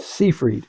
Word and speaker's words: Seyfried: Seyfried.